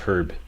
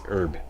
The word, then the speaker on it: herb: We use the British pronunciation of herb. That means pronouncing the H. That's the correct, grammatically correct pronunciation. I know Americans don't use the H. It's herb, but we say herb.